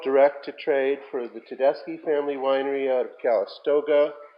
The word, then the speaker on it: Tedeschi: Winery out of Calistoga is that how you pronounced that last name Tedeschi yeah so tell deski is a Zinfandel producer in Dry Creek Valley of Sonoma but Tedeschi and Calistoga is mostly a Cabernet producer yeah I've seen it I've read a lot about it I never knew that was the pronunciation that's it so Tedeschi